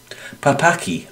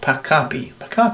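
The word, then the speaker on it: Pakapi: from Argentina and that's from the pap pap papaki records which is uh papaki Records uh no I can't say it right Paka Paka that's right Paka records uh p a k a p i uh records.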